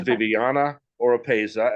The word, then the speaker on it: Viviana Oropeza: want to let you try so this is Viviana oropeza and I might have just butchered her name I apologize if that was